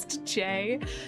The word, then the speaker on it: Faye: Genuinely just dug up an old OC named Faye, pronounced J, whose description is only born with a G full in hand and the worst opinions.